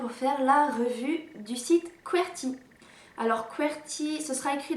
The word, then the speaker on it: Qwertee: dans le titre mais ça s'écrit qu w le rt eux donc pas comme converti avec un y comme quoi si azerty pour les claviers alors cet incident où